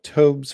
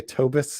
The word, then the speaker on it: Tobes: Also, Tobes rhymes with robes and arachnophobes. Okay. You know why I always say Tobis is because I think that your name is like Tobis Laronis or like Tobis Larone.